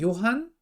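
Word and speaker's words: Johann: 12 년 전에 어 여기 이거 이제 좋은 존 본 존 본 유만 이라고 읽으면 좀 이상해요 그저 왜냐하면 이 사람은 도개 사람이니까 아 이것은 요한 또 온 너 임마 이렇게 있는 게 맞을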